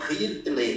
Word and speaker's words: Hirtle: Gente, Peter Hurtle, anotem, Peter Hurtle, Hurtle é como, o sobrenome dele é H-I-R-T-L, Hirtle com H, para não ter problema de a minha pronúncia, eu falando inglês que nem um doido aqui.